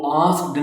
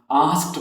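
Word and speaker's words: asked: जैसे ए एस के ई डी वो आस्क्ड नहीं हम उसे प्रोनाउंस करेंगे बल्कि उसे हम आस्क्ड प्रोनाउंस करेंगे। आस्क्ड एंड की जो साउंड है वो टी की होगी।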